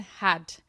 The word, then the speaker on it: Haidt: Shepard's podcast and Jonathan Hadt. It's Haidt Hadt. I think that's how you say it.